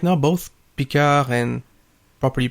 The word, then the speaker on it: Picard: I'm a Star Trek fan, and right now both Picard and, properly pronounced, Picard, and Discovery have continuously disappointed me.